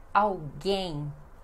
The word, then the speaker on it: alguém: No espanhol vocês dizem alguien, mas no português é alguém. Alguém. Esse L sozinho também pronunciamos com som de U. E a sílaba mais forte é gen, então alguém.